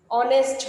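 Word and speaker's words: honest: অনেস্ট হবে। তাহলে এইচটা হ এর মতো উচ্চারণ হচ্ছে না।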